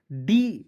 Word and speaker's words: do: और देखिए कुछ ऐसे वर्ड्स होते हैं दोस्तों जिसके अंत में ओ आता है, लेकिन इसका उच्चारण छोटा ओ के रूप में करते हैं, DO डू पढ़ते हैं, ठीक है।